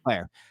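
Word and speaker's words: Klare: Claire.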